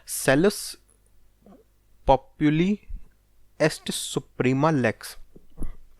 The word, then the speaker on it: Salus: Cells पॉपुली एस्ट सुप्रीमा lakes. मैं काम करता हूँ, स्पेलिंग बोल देता हूँ, वो तुम लिख लो, SALUS।